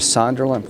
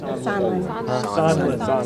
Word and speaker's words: Sondland: Mr. Sunderland, what's his name? How you say it? Sondland. Sondland.